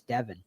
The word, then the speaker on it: Devin: I think he said David and it's Devin.